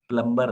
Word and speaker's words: plumber: MB में B silent हो जाता है 95% केस में.